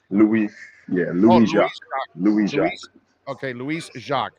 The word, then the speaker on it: Louis Jacques: No, it's Louis Jacques. It's Haitian, actually. So I think a lot of people down in Miami will, will recognize it a bit. All right, so Louis Jacques is the way we say it, right?